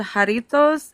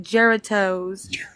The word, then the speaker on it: Jarritos: And so if it's like Mexican or El Salvadorian food, he calls it pupusas, and there's a soda called Jarritos, and he calls it Geratos.